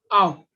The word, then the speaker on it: ao: And this pronunciation, this will be A plus O. Ow.